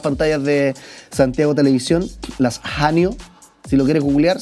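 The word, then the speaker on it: haenyeo: Las estamos viendo ahí de hecho en las pantallas de Santiago Televisión, las hao, si lo quieres googlear se escribe h a e n y e o jao, pero sí diceo, mujeres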